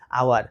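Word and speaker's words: hour: উ ইউ আর, আওয়ার। তাহলে এটার উচ্চারণ হবে অনেস্ট, এটার উচ্চারণ হবে আওয়ার। একই রকমভাবে অনারেবল। আশা করি বুঝতে পেরেছো। অর্থাৎ যদি ফার্স্ট লেটার সাইলেন্ট থাকে, উচ্চারণ যদি উচ্চারণ না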